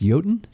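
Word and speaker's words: Jötunn: That word's pronounced Jotun? Yeah, it's slightly spelled wrong. Oh, no, I didn't know, but because there's the little dot. The umlaut is there, The umlaut, so I didn't know.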